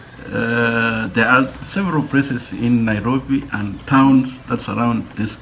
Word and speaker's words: Nairobi: Nairobi is a Maasai word that means a fairy of cold water. A fairy of cold water. And that is how the city found its name, because the Europeans were unable to pronounce Enkare, Nairobi, that they shortened to Nairobi. Enkare, Nairobi was shortened to Nairobi, as you know it today.